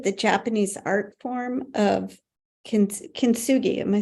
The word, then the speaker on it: kintsugi: So I was reminded of the Japanese art form of kintsugi. Am I saying it correctly? Yeah, kintsugi.